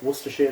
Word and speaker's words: Worcestershire: I pronounce it as Worcestershire sauce. I say Worcester sauce.